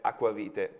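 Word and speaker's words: eau-de-vie: ODV, che è così io scrivo come si pronuncia la parola francese aquavite. Aquavite. Che si scriverebbe EAODVIE.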